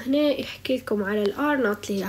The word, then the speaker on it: R0: الناس لو مش مطعمين، راه لما نحكي على الـ R not هي الـ R0 يقولوا لها R not نطقها، إنه قداش يعني واحد مريض قداش بيدعي من الناس اللي مش مطعمين.